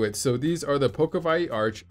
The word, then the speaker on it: Pokowai: so these are the pokeville arch i think i'm pronouncing it right that w is actually a v they are 229.99 and